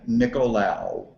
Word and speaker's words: Nicolao: for me properly please my name is nicolao there he goes he's the last syllable I wasn't saying right wow um my uh